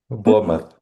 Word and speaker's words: Bournemouth: Royal You have to help me with the pronunciation. Is it Bournemouth? Bournemouth? How do you say it, Mukhtar? Bournemouth.